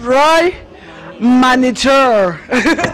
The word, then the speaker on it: Roi Manitou: I want you guys to pronounce the name of the champagne. I'm going to start with you. It's Roy Manitou.